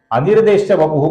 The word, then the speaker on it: अनिर्देश्य वपुः: अनिर्देश्य वपुः का जो विसर्ग है दोस्तों, इसके आगे श आने के कारण विसर्ग का हम हल्का सा श ऐसा उच्चारण करेंगे।